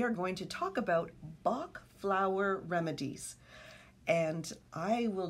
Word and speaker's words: Bach: i'm sorry i'm laughing because you're saying bach and i i studied german i'm like no it's bach okay say it properly you start okay flower